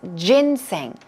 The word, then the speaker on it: ginseng: also called stock okay jin-sang here we go pronunciation that's ginseng stress goes right there on the first gin so let's try it